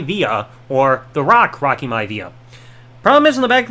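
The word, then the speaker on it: Maivia: his last name being m-i-a-v-i-a it's supposed to be m-a-i-v-i-a so it's supposed to be my via not Mia via so I saw that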